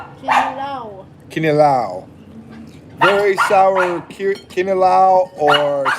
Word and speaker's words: kinilaw: Quinela? Kinilaw.